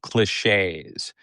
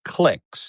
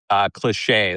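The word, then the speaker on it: cliché: talk radio show and people would say clicks. They didn't know how they didn't know how to pronounce the word cliche. I think that's what it was. It was something that was fairly common, but it was often mispronounced.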